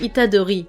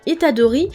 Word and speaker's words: Itadori: Pour terminer cette vidéo, je vais vous partager quelques anecdotes sur le personnage de Yuji Itadori.